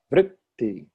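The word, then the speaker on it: वृत्ति: And the same with vritti. First syllable strong, second syllable light.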